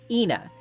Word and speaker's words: ENA: the first indication that Anna's name isn't exactly pronounced consistently. Back in auction day, Mooney said Anna's name with a clear e sound. Ena. Mercy says Anna.